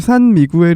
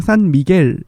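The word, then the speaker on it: San Miguel: 필리핀에서 만들어지는 맥주 고요 이게 사실 산미구엘 이라고 저희가 얘기를 하고 있는데 원래 이제 스페인어 발음 으로 발음은 하자면 은 산미겔 일이 왔다구요 미국에서 아니라 301 미겔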